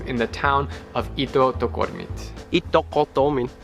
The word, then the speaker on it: Ittoqqortoormiit: Ittoqqortoormiit. Ittoqqortoormiit. It's just like, you could also pronounce English words quickly, like eat, cut, duck, door, meat.